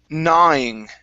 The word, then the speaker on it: gnawing: here is the word gnawing okay this is a it's g-n-a right up here okay the g is silent okay so our word